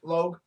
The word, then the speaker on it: Logue: I mean, Donald Legault, is that how you say his name? Donald Logue. Logue. Yep.